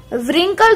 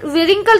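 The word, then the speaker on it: wrinkle: जैसे आपने इसको रिंकल थोड़ी, विरिंकल तो नहीं पढ़ा ना, क्या पढ़ा है हमने इसको, रिंकल पढ़ा है, इसी तरीके से इसको रिगल पढ़ा है, इसी तरीके से इसको राइट पढ़ा है।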